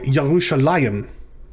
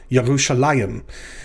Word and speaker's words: Yerushalayim: israel is israel yerushalayim sorry yahusha liam i had to put the stress on the right syllable yerushalayim this is the name